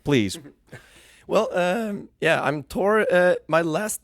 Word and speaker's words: Tor: now we know yeah and also my name like tour it's also a bit it's like in the region it's toward toward yeah yeah okay you're